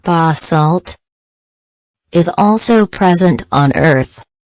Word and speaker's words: basalt: of dark lava rock referred to as basalt pronounced basalt is also present on earth the sea of